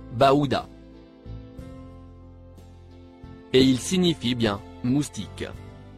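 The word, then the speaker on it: بعوضة: Il se prononce Baouda.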